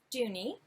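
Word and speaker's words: Dohne: the designer Oh actually she put in the little pronunciation it says do new so do nee the designer is ocean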